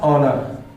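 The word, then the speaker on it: honour: ठीक है, या फिर हमने लिख दिया ये, तो यह हो गया हमारे पास ऑनर। ऑनर यानी एच यहां पे साइलेंट है, ऑनर हो गया, तो अर्थात इसके साथ हम लोग एन का यूज कर देंगे।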